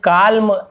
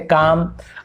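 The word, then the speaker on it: calm: यहाँ पे जैसे काल्म गलत है, एल साइलेंट है, काम।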